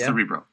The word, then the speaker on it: Cerebro: into this is that cerebro is that you pronounce it exactly cerebro so that's our universe Aysen look up -